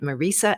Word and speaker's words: Marisa: I've been saying her name wrong this whole time, but she says she's used to it, but let me know today that that's exactly how you say it, Marisa.